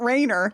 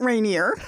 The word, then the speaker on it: Rainier: assume that you met rainier the volcano to be fair i've also heard a bunch of people who don't know how to pronounce rainier call it rainer including my mom you'll